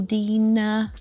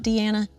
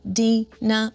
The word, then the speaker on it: Dina: pronounced right like me, hello, Dina, not Deanna, Dina with one N, it being spelled right.